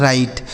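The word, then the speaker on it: write: इसे पढ़ा जाता है राइट। यहां देखिए डब्ल्यू साइलेंट है।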